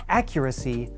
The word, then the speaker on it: accuracy: our pronunciation of accuracy to start accuracy has stress on the very beginning of the word we can show that